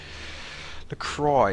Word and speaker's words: LaCroix: you back to see mr lacroix again the cry is how you pronounce it okay yeah okay send